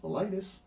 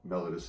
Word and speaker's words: mellitus: And mellitus, sometimes first pronounced melitus, but mellitus as well, usually refers to sweet or honey-like or syrupy-like.